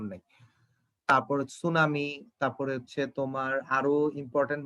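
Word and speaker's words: tsunami: সুনামি বানানের শেষে টি আছে, সুনামি বানানের শুরুতে এই যে এটা সুনামি, দেখো শুরুতে একটা টি আছে কিন্তু এখানে টির কোনো উচ্চারণ নাই।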